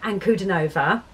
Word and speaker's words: Ankudinova: now on um so yeah this is diana and kudanova um and this is a live performance of